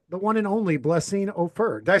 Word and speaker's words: Offor: one and only Blessing Offor. Did I say that What's up, right? friends? Well, you can say oh Offer? for it's offer, but Offer, offer, we accept all kind of similar name pronunciations.